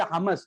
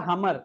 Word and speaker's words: hummus: but now I think Oxford people say hummus hummus not a Hummer that's a car huh